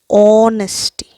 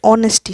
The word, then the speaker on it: honesty: We do that because honesty, the H here is silent.